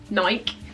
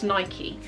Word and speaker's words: Nike: in the comments say it's not Nike, it's Nike. And I just wish to say that I know it's Nike, but in the UK, it's commonly pronounced Nike. I don't know why that is, it's just obviously a local dialect thing.